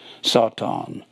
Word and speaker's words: satan: will be set on it's pronounced s-a-w-t-a-w-n that's the way it sounds sought on and it means an